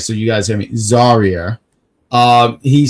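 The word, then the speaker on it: Zaria: say it right so you guys hear me zarya um he says Ren got dominated she did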